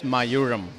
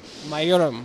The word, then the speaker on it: Mayuram: How do I pronounce it correctly? It's Mayuram. Mayuram.